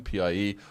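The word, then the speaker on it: piě: And then pie with a third tone, P-I-E. Well, that's my bedroom. And pie, P-I-E, is pronounced like piede in foot in Italian and pie in Spanish.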